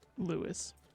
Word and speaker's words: Lewis: How do you pronounce it? Lewis.